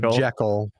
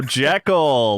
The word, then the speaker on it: Jekyll: Jackal. Oh, Jekyll, like Dr. Jekyll.